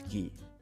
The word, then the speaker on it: Guy: It's Guy. That the French pronunciation is Guy.